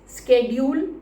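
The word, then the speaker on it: schedule: शेड्यूल होता है, बहुत समय से चला आ रहा है, बट काफ़ी समय से इसके दो प्रोनाउंसिएशन सामने आते हैं, स्केड्यूल एंड शेड्यूल.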